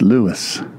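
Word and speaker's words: Lewes: School in Lewis Delaware you all would pronounce that L but it's Lewis first town in the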